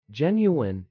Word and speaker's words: genuine: Pronouncing genuine is simple. Genuine. With a soft G and a long E.